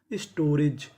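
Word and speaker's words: storage: आपको पता है कि आखिरी में हम ई का उच्चारण नहीं करते। तो मीनिंग क्या बनी? स्टोरेज।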